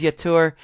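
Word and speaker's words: Jetur: be jeter um because a lot of J's are Y's with um like a lot of the the the pronunciations Yetur um it's pronounced Y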